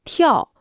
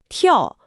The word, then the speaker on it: 跳: 降下来，跳最后要翘一点舌，慢慢就能纠正发音了。